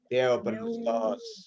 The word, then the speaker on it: Theopneustos: Jadi bacanya Theos, Theo, nggak pakai os. Theo, Theophenustos. Theopneustos.